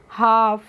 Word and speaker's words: half: तो HALF होता है फ्रेंड्स, जब भी किसी वर्ड में L और F एक साथ होते हैं तो उसमें हम L का प्रोनाउंसिएशन नहीं करते हैं, इसीलिए इसको हम पढ़ते हैं हाफ।